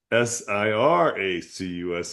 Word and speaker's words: Syracuse: It's not pronounced Sarah accused. It's Siracuse.